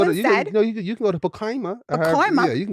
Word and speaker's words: Pacoima: Yeah, you can go to Pacoima. No, what'd you say? Pacoima. You saying it better though. Say how you said the first time. Pacoima. You didn't say it like that. No, you didn't say that. You said like Pacoima or something. Pacoima. Yeah, there you go. That's what you said. You said Pacoima. That sounds like a Dominican girl.